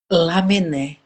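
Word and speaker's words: Lamennais: E aí o espírito que eu não sei como é que é a pronúncia correta. Lamenaram, não sei. Lamené, lamené, quase trouxe a resposta pra gente.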